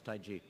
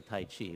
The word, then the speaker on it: Taiji: when I don't practice Tai ji tae ji it's real pronounced IG but people say Tai Chi but the Chinese people really pronounced the Taiji toys use an energy